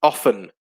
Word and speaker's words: often: bunny uh and jessie often yeah often where the t is silent is another good one